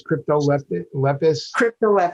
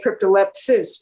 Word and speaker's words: Cryptolepis: to me what is crypto lepis yeah and it's spelled just like it sounds i you i wanted to say cryptolepsis but it's cryptolepis is and it's an herb